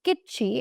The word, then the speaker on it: kitschy: So the word is kitschy, and that's how you pronounce it.